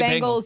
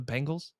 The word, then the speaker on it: Bengals: The Bengals. Okay. You to me you say it like like a bangle. Like a bracelet. Yeah. The Bengals.